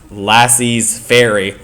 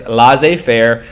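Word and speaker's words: laissez-faire: with this idea called La Fair it's not pronounced lassis fairy it's l Fair it is a French word and all it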